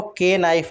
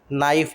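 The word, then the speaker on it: knife: तो इसको के नाइफ बोलना गलत है। नाइफ बोलते हैं। एन वाई एफ ई। ठीक है? के इज साइलेंट। इसके बाद नाइट।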